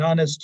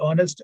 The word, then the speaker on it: honest: air, Harris, honor, honorable, honest, honestly. They must be pronounced as though there were no H at the beginning.